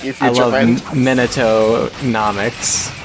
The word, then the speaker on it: Minato: sounds like you feelin minato nah mcc's was that how you say his name yeah Minato mean it so it was